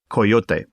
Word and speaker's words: coyote: one nickname coyote but pronounced the correct way coyote bestowed on me by